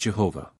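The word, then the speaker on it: יהוה: Sant the tetraden or the four-lettered name of God written thus is pronounced Jehovah the first letter is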